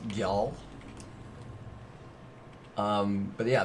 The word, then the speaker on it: Gjall: the misslands spelled g-j-a-l-l I think it's pronounced yell um but yeah it's